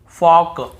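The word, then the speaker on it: folk: एल के पहले हो देखिए यहां पर भी हम talk talk walk walk chalk chalk यक यक फॉक फॉक ऐसे पढ़ कहीं पर भी टॉल्ट वाल्क चालक यल्क फॉल्क नहीं पढ़ रहे हैं लेकिन य गलत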